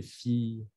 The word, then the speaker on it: filles: El fi de hija se pronuncia como si fuera una i larga. Elles savent bien nager, tes filles.